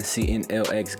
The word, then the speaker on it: CNLX: CNLX Gaming, where the X is silent.